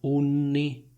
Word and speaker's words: unni: Senti la differenza tra unni, unicorni. Unni, unicorni.